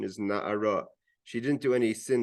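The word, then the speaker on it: נערה: Again, the pronunciation is na'ara. She didn't do any sin that's worthy of death. So the writing is nar. The pronunciation is na'ara.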